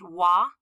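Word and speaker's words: は: in front of me it's always going to be pronounced wah but spelled ha when you're typing on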